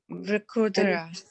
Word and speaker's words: Vrikodara: Okay, how will you pronounce this last word? These two together? Vra. Vru. Ra, Vru. Vrukodara. Vrikodara.